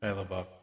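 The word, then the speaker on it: LaBeouf: Shabbuff.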